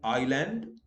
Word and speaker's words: island: Where S is silent, like island, isle, isle, I have written the pronunciation.